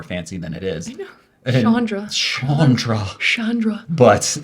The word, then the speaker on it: Chandra: name is Chandra and how I tell people to pronounce it is think of like Jackie Chan and for some reason that little um tip everyone's like oh yeah Chandra and then from but